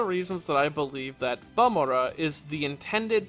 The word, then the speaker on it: Bamora: one of the reasons that I believe that balmora is the intended pronunciation of the name though much like suit